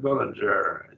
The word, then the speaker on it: Bullinger: Bullinger, I pronounce that Bullinger, G as a J almost, refers to the first and second order enthymemes as enthymema, and the third order enthymeme as syllogismus.